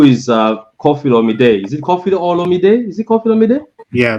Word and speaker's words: Olomide: Okay, how do you pronounce Koffi Olomide? Yeah, Olomide.